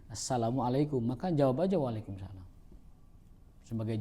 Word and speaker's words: Assalamualaikum: Masa ee orang lancang kepada Nabi, orang Yahudi ya mengatakan assamualaikum. Nah, orang sekarang saya yakin yang diucapkan itu bukan assamualaikum. Karena mereka satu bukan orang Arab. I yang kedua ikut latah ngikuti kaum muslimin. Jadi ucapan salamnya benar gitu. Assalamualaikum.